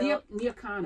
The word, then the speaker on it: Nyakana: All right, what does Nya Kana mean? Nya Kana. So Nya Kana. Nya Kana is the way to okay. properly pronounce it.